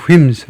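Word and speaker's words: whims: He changes plants on a w on a w 이렇게 전사구도 사용하고 the wims of consumers 변덕 변덕을 스라고 그런다. 그래서 subs wims of ws and fes 발음은 예치 발음 안 하고라고 그런다.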